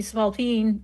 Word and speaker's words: spalpeen: It's actually supposed to be Spalpeen, and sometimes they misspell it as Spalpeen.